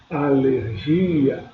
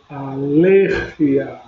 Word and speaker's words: alergia: Em português eu falo alergia. Em espanhol eu falo alergia. A sílaba tônica é ler. alergia. Lembrando que GE e GI em espanhol tem som de R, então é alergia.